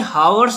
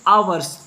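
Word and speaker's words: hours: इसे हावर्स नहीं कहेंगे, यहाँ पर एच फॉर हावर्स, यहाँ पर जो एच है वो साइलेंट रहती है, इस वजह से इसको इंग्लिश में कहते हैं आवर्स, ओके।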